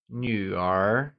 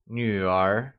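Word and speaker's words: 女: ards daughter translates to new it is pronounced using the falling Rising tone can you try and say new once again it's new good work let's do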